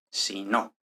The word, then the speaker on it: sino: va a haber un acento de voz hasta la siguiente palabra e incluso es posible que cuando se está haciendo énfasis en el habla se note que el Ace está Incluso en la primera sílaba por lo que se distingue perfectamente de si no Entonces vamos a verlo no me gustan los gatos sino los perros el acento no viene